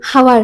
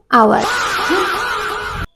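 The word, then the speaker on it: hour: আমি কওঁ 1 ওকে এইটো হাৱাৰ হ'ব নহয় এইটো আৱাৰ যেতিয়া আমি কাৰোবাক লগ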